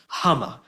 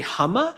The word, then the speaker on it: Huma: point out is that Huma Abedin has decided her name is pronounced Huma. So after being in the limelight for decades, she said in her book, allegedly, that her name is actually Huma. It's not Huma.